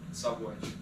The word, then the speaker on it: Szabolcs: Szabolcs. I hope I'm saying your name right there, mate. Is that right? Close enough. Yeah. How do you pronounce it, Ash? Szabolcs.